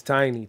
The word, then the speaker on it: Tainy: It helps because there's so many Tinies around the world.